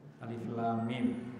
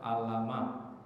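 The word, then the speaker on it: الم: Jadi, maka cara membacanya itu adalah kembali ke huruf asalnya. Iya. Jadi, Albaqarah dimulai dengan alif lam mim ya. Jadi, ada yang pernah saya dengar baca alama. Ah, itu gak benar.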